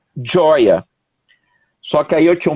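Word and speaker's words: ĝoja: Aí, alegria em Esperanto se escreve com G e J, né? Então fica Goja, com acento circunflexo no G, e se pronuncia Joia.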